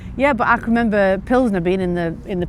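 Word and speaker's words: Plzeň: It's not Pilson, it's Pznner.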